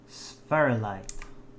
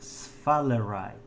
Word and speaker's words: sphalerite: the wrong way like i used to say sperlite but it's sphalerite so it's not an